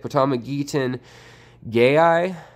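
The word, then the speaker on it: Potamogeton gayi: name up but that's how you say it pitama gettin gay I and that's that multi-coloured wispy grass with the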